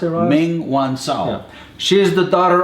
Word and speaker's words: Meng Wanzhou: Just for our viewers to know, how do you pronounce it, Ross? Meng Wanzhou.